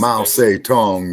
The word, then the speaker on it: Mao Zedong: Mao Zedong is the correct pronunciation.